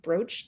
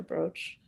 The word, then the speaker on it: brooch: We've got some really good examples of brooch diplomacy that Yes. I never know how to pronounce that. It's brooch or broach.